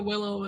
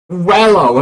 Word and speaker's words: Welio: Yeah, I mean, I am aiming for Willow at the moment. Who? Willow, my love. Who? Wello. Her name is Wello, not Willow.